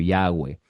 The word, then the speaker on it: Yahweh: muy mala traducción porque la Yud no suena como J. Algunos Jehová o Yahvé, depende la versión que usted tenga. Otros en el mundo, en los círculos más académicos, pronuncian como Yahweh.